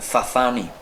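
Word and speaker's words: Sassani: eh que se llaman los sasani ellos se pronuncian zani vale pero resulta que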